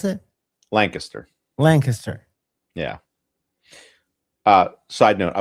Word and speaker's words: Lancaster: That's how you pronounce it in Pennsylvania, by the way. You don't say Lancaster. It's Lancaster County. How did you pronounce it? Lancaster.